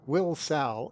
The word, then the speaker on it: Wilsall: Wilsall, as I was later told how to pronounce, is located in the Shields Valley, the namesake of which came from Lewis and Clark's blacksmith, John Shields.